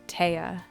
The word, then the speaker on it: Thea: is spelled t-h-e-a so it's spelled like thea but it's pronounced tea that's how it's pronounced